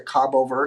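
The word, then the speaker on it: Cabo Verde: the cape bird Islands they like the proper pronunciation is the Cabo ver Islands but whatever uh you can see it's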